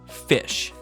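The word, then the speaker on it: ghoti: was but if the gh sounding enough is pronounced like f and the o in women there it is makes the short i sound and the ti in nation is pronounced sh then the word g-h-o-t-i is pronounced just like fish yup so they made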